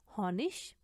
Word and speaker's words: Honig: जब वर्ड्स के एंड में आता है तो उसको इश करके हम प्रोनाउंस करते हैं स्टैंडर्ड जर्मन एक्सेंट में। Zum Beispiel Honig, शहद, billig, सस्ता, 20, 20।